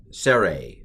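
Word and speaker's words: צֵירֵי: vowels now so the sere uh is a long e sere and it's pronounced a i know that's confusing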